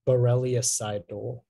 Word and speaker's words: borreliocidal: Yeah, it can be borreliocidal, borreliocidal, or borreliocidal.